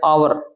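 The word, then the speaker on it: hour: अब देखो यहां पर एक शब्द आया आवर। पहला जो लेटर है एच है वह साइलेंट है। उसकी ध्वनि और हो रही है तो एन आएगा।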